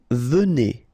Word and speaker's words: venez: Vous venez. Okay, so Z at the end combine will give you the sound E, and here you've got venez.